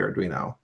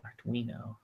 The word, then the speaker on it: Arduino: don't see it coming to fruition with the Arduino. To the what? Oh, yeah. I keep forgetting how you pronounce that. Arduino.